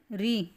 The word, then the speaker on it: ऋ: है इनमें ठीक है ऋ का उच्चारण ऋ जैसे कि र रस्सी वाला र और छोटी ई की मात्रा लगा रखी है ऐसी ऋ की तरह इसका मतलब उच्चारण होता है और केवल य संस्कृत